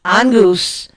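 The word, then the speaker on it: Inguz: It's spelled I-N-G-U-Z. It is pronounced E-N-N-G-G-O-O-Z. Angus.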